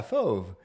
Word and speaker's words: fauve: It is French, yeah, fauve.